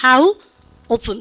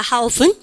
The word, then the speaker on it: often: often 발음가 how often 근데요 트 발음 다 하는 원어민도 많아요. How often 사투리처럼 그렇게 하는 양인도 있는데 그 양인은 뭘 할 건 못 됩니다. 그래서 우리는 둘 다 된다는 걸 아시면 되겠어요. How often 혹은 how often 둘 다 되고요.